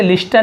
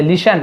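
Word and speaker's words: listen: ही सैड उसने कहा, लिसन टू me carefully, अब इसे लिस्टन नहीं पढ़ेंगे, यहाँ पर भी टी साइलेंट है, लिसन ऐसे पढ़ेंगे, लिसन टू मी केयरफुली।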